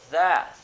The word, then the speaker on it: that: Veja, o som tem que acontecer enquanto a língua está entre os dentes.